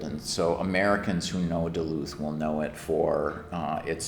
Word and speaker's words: Duluth: So Duluth is a city about when I was growing